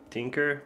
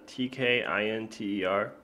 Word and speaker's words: tkinter: I just call it tinker, but it's not pronounced like that. It's a tkinter. So pronounce it how you will.